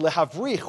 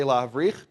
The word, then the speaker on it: lehavrich: Brechot means branches in an agricultural term, and lehavrich, which means to graft, say lehavrich.